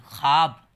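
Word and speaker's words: خواب: अब रवानी देखिए, क्या, क्यों, केवड़ा, ख्वाब, ख्वाब नहीं पढ़िएगा आप लोग, ख्वाब। ये लिखते ऐसे हैं, वाव के साथ पढ़ते हैं अलिफ की तरह, ख्वाब।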